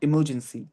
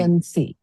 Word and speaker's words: emergency: जी भी नहीं है वैसे वो, बट तेज बोलने मुझे लग रहा है, बट इमरजेंसी, इमरजेंसी, Emergency. C sound last, इमरजेंसी, Emergency. Emergency. इमर्ज नहीं, इमरजेंसी, Emergency.